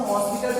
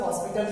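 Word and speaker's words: L'Hôpital: ठीक, तो हॉस्पिटल से बोलोगे तो कोई प्रॉब्लम नहीं है, उसका इंग्लिश प्रोनाउंसिएशन हॉस्पिटल ही होता है।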